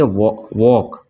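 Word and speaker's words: walk: जो शब्द बने हैं ये उसमें भी एल्स साइलेंट होगा तो इसको पढ़ेंगे वॉक ठीक है ना इसको पढ़ेंगे ऑक्युर इसको क्या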